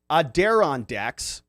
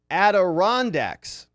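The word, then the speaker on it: Adirondacks: Heather says, "Poor Rob struggling with pronouncing aderandex." Adirondax. She says it's pronounced adorandex. Aderondex. That makes more sense. The emphasis is on the third syllable.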